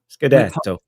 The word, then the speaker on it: Scudetto: You have to say it like this. Scudetto.